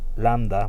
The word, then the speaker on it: lambda: aquí se llama lambda lambda es landa voy a escribir aquí